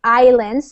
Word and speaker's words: island: So basically they're just saying that um the people who used to live on uh the islands so in this word in English we don't pronounce the s a i island islands